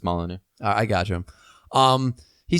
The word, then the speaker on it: Molyneux: Molyneux. All right. Thank you, sir. You're just kind of the official pronunciation dude. At least on I'm the show. relatively positive it's Molyneux.